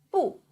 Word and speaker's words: 不: First one, 不波 u with the fourth tongue, 物波 u 不波 u 不不不 This means no.